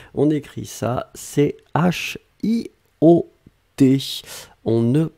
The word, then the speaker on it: chiot: bébé de chiens c'est ce qu'on appelle un chiot on écrit ça ch io t on ne prononce pas le thé finale je veux un